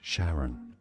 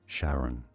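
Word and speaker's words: Charon: This is generally said by astronomers as Sharon Sharon.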